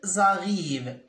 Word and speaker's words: arrivent: Est-ce que on peut prononcer « ent » ? Non. Donc, on dit « ils arrivent ». On écrit « ent » mais on ne les prononce pas.